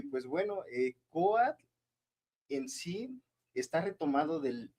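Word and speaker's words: COATL: la siglas, que es C O A T L. Se pronuncia coat, pero no es una palabra corrida, es son las siglas.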